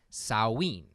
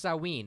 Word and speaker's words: Samhain: the show it's pronounced saw ween its huh it's written Samhain but it's pronounced saw ween it's the ancient Celtic